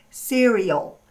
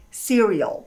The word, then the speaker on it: cereal: A pronúncia seria cereal. Cereial. E olha o L também no finalzinho aqui, cereal.